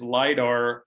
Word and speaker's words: lidar: to the earth sciences and uh the correct pronunciation and spelling is lidar all lower case i've uh i've learned this